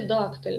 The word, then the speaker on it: дактиль: можна за наголосами у у слові дактиль наголос падає на перший склад відповідно дактиль трискладова стопа